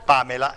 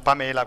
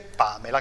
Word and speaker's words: Pamela: di Gregorio Buonasera buonasera Pamela non Pamela Qualcuno potrebbe dire ma si è sbagliato a metter l'accento invece è Pamela Come dico Pamela va